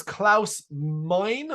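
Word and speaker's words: Klaus Meine: I say it right this is Klaus Mine Mini Mine with an E so m-e-i-n-e it's the front man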